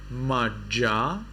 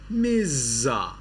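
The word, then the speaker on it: majja: sound of J J when you have J in English in Sri Lanka you read it as ja in Myanmar you read it as za so this is not Maja it is miza you see it's very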